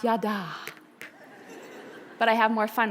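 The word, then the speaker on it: ידע: Bible scholars in the room it is correctly pronounced yada but I have more fun with it the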